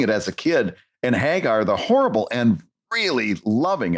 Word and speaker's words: Hagar: I Hagar the Horrible including learning that is pronounced Hagar I always Ed to call him Hager the horrible and got corrected a few times